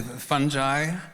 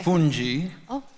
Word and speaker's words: fungi: No, you can say fungi. Okay. Funi or or fungi? Fungi. Fungi. Fungi or fungi. They're all correct.